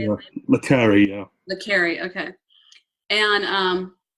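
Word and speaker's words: le Carré: Le Carre, yeah.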